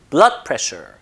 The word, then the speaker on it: blood pressure: 붙여서 발음하는 번만 자 두 개의 단어가 이렇게 합성돼 쓰일 때 강세 즉 힘을 앞에다 줍니다 blood pressure blood pressure 읽어 보세요